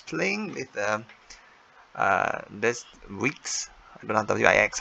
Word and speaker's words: Wix: so i was playing with um uh this week's i've been on wix how we pronounce weeks over the over the weekend and